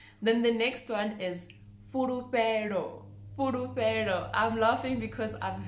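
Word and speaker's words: Fhulufhelo: Again, the FH, it's not furu, it's fu, furufero. Furufero.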